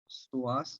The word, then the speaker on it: psoas: Next muscle is a very short muscle, that is the tendon of psoas major. P is silent.